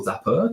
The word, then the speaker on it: Zappar: and so i guess zappa or zapper depending on how you want to pronounce it um is basically has